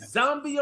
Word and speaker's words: Zambia: Is it Zambia or Zambia? I say, you know what? That's correct. You said it right.